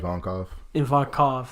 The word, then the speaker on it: Ivankov: Ivankov, right? Ivankov.